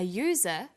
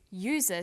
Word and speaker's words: user: So we say an umbrella, but a user, because user sounds like it begins with a Y.